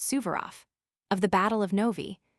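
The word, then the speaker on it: Suvorov: The Duke of Portland received a letter yesterday before he left Dover from his son who is with Marshall Subaro, pronounced Subverof, of the Battle of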